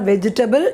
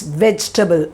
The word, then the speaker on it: vegetable: So next time, don't make mistake in pronunciation of this vegetable, and it is not vegetable, it's vegetable. Vegetable.